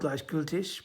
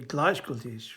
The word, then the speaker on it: Gleichgültig: If you're German, you'll pronounce it Gleichgültig, but it's a case of this is the difficult thing. You don't think, can I actually change the stress on the syllables in this language?